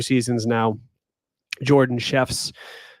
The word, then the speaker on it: Szewc: 2 seasons now, Jordan Chefs. People call her Jordan Zwek because they can't say her last name, Szewc, but it's pronounced chefs, like the cook in the kitchen.